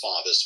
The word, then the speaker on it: Favis: And also uh my name on Twitter is SV and my last is pronounced Favis but it looks like Fabis you're famous f avi